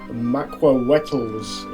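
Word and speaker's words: macuahuitl: Those are the dual Maquawetals is the correct pronunciation, I'm told, but we're going to call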